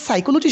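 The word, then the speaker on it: psychology: তো এরপরে সাইকোলজির মধ্যে একটা পি আছে, এটার উচ্চারণ হয় না।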